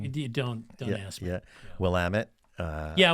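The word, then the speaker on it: Willamette: river's name John you don't don't ask me will Amit uh yeah willit yeah that's right you reminded me but that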